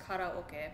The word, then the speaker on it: karaoke: Yeah, actually, it's in Japanese it's pronounced karaoke. When kara means empty, oke is for orchestra.